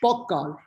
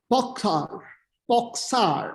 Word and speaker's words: Pogačar: Tadej Pogačar, T-A-D-E-J, Tadej. Pogačar, actually, not Pogačar in the pronunciation.